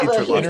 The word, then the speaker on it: interlocutor: I think it's interlocutor.